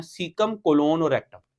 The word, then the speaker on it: कोलोन: ठीक है, अब ये कॉलन नहीं है, कॉलन के स्पेलिंग भी ये होते हैं, सेमी कॉलन, कॉलन के स्पेलिंग, कॉलन तो वो होता है 2 डॉट और सेमी कॉलन 1 डॉट और 1 कॉमा। ठीक है, कॉलन नहीं कहना, क्या कहना है? कोलोन।